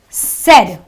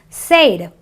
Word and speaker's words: said: a cette année sit you have another word said you don't say fade you know our non-english speakers sometimes pronounce this word has Sade it's not an a sound it is a s sound so there's a set